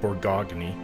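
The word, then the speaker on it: Bourgogne: thousand here and um borjon looks it's spelt borgogne i didn't lose any for tradition so but it's uh pronounced bergeon i believe thanks to a commenter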